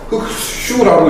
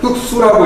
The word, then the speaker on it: 흑수: 그래서 흑슈라고 읽지 마시고 흑수라고 읽으시면 되고요.